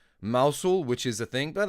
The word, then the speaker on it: Mousehole: And um there's Don Connell called Mousehole, but it's pronounced Moushul, which is a thing, but that's how you guys do it, right?